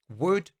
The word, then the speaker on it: would: look at hypothetically speaking wood could should now these are words that i hear mispronounced all the time we do not say the letter l when we are using these words so make sure that